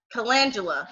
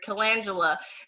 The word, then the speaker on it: calendula: vera, such as your calendula, sorry, I pronounced that wrong. Your calendula, your chamomile, your magnesium, sea buckthorn, and turmeric.